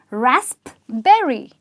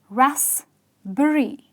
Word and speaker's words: raspberry: with a "P" but let me tell you that the "p" is silent and lot of people call this fruit rasp-berry no there is no